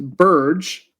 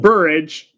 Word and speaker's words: Burge: And Smitty, I'm going to just going to put this on record that her name is pronounced Burge and not Buridge.